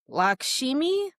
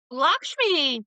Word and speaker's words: Lakshmi: Lakshimi. Lakshmi.